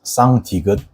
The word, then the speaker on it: 쌍디귿: similar to tigut, but you should pause your breaths beforehand like tigut, but it has to be much stronger. So you have to stress your mouth muscles to pronounce sang-tigut properly.